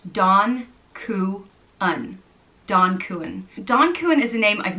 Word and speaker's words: Donn Cuan: It reminds me of, you know, in Italian, they say Don when they're talking to someone with respect, someone that has a lot of power. So, you know, Don Corleone.